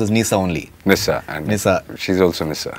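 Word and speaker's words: Nysa: Has Nisa, that is your daughter, I think she's pronounced as Nisa only. Nissa.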